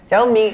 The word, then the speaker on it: Xiaomi: um in other news xiaomi xiaom me that's how you say it that's how you pronounce it sorry to our Chinese